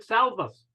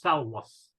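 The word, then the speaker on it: salvus: I looked it up you said salvas the correct pronunciation is salwos the British Board of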